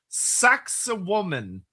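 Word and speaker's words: Sacsayhuamán: Um Necro player as someone who likes ancient plains is pronounced saxoman.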